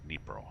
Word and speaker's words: Dnipro: That's Dnipro. Spelt like it's pronounced.